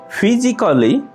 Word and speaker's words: physically: ফিজিক্যালি, শারীরিকভাবে। ফিজিক্যালি, শারীরিকভাবে। এখানে মার্ক করা এ লেটারটি হচ্ছে সাইলেন্ট লেটার।